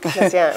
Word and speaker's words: Messiaen: Messiaen. Messiaen, right.